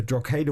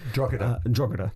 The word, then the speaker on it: Drogheda: I mean, the Drogheda one was, if that's the way you pronounce it, probably not, but Drogheda.